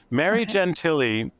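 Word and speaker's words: Gentile: she would be fabulous Mary Gentilly uh is spelled g-e-n-t-i-l-e um taught ethics at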